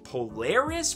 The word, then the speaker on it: Polaris: we have what i'm pretty sure is the pronunciation of the name is polaris from x-men and it's also a glow-in-the-dark pop